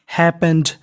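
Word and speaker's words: happened: अगर आपको इंग्लिश में कहीं पर ई डी लिखा मिल जाए तो उसे पढ़ना होता है ड और पी दो बार है। उच्चारण हमें केवल एक बार करना है।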